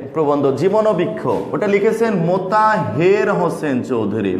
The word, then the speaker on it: মোতাহের: যেমন আপনাদের যে প্রবন্ধ জীবনবৃক্ষ, ওটা লিখেছেন মোতাহের হোসেন চৌধুরী, নট মোতাহার, মোতাহের।